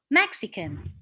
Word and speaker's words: Mexican: the second syllabi iran what about mexican this is three syllable mexican so mexican mexican mexican so you put the stress on the on the first syllable so does like zimbabwe